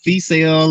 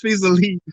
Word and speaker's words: Feasily: And most people say Feasale or whatever. It's like, well, stop it. If Yeah. you don't know how to pronounce it, you ain't in the group. It's Feasily.